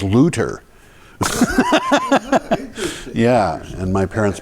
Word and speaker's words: Luther: German and she said why do you say Martin Luther? His name is Lutter.